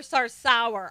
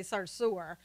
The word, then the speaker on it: Sarsour: sir is disgusting yeah I almost called her sour sour all the time because of the way the name is spelled and it seems kind of appropriate so I have to really stop myself and say sir sewer every time now for you football